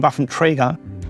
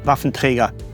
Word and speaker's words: Waffenträger: And when I hear myself saying Waffenträger, it sounds actually very odd to me. I should say Waffenträger. That's the only way how to pronounce it.